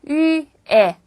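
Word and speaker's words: 月: 자죠 역시 월이란 뜻입니다 발 하실 때 위에 위에라도 발음하세요 지위에 몇월 지하 할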